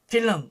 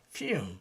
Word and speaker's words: film: 필름 우리는 이 두 가지 발음을 잘하고 있지만 영어에서는 또 그렇게 발음하지 않습니다. film 이렇게 이제 이 L 발음이 이제 이 반설음으로 돼야 되는 것이죠.